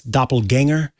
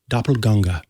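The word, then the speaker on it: Doppelgänger: matters by the way for English speakers that's doppelganger but the original pronunciation doppelganga you may have heard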